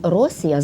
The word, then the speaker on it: Росія: тему того терміна розумієте термін Росія з наголосом на першому складі це насправді грецький варіант